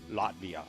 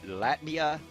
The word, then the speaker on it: Latvia: bit of history on Latvia Oh now a lot of people will pronounce it Latvia or Latvia well I prefer Latvia because I believe that that's actually how they're natives pronounce her own country but